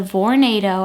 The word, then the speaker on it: Vornado: space heater it's the Vornado I think that's how you pronounce it it's like tornado but with a V uh whole room space